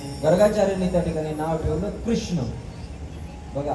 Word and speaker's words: कृष्ण: त्या ठिकाणी नाव ठेवलं कृष्ण बघा आपण उच्चारण करताना किती चुकीचं उच्चारण करतो लक्षात घ्या बर आपण देवाचं नाव घेताना म्हणतो कृष्णा काय म्हणतो म्हणतो का नाही आपण कृष्णा म्हणतो कृष्णा पण लक्षात ठेवा इथून